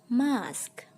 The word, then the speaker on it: mosque: Di sini ternyata pengucapan yang benar adalah mosque.